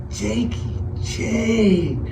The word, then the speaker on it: Jakey Jake: Jakey Jake. When you call me, when you see me, if you see me somewhere, man, say it like that, man. Say it like your stomach hurt.